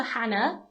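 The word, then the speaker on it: Jana: They said, "Okay, we'll call her Hannah, how it's spoken, but we're just going to spell it J N J A N A."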